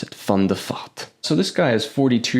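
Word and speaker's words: van der Vaart: fun theat yes that is actually how you pronounce it fond theat so this guy is 42 years old right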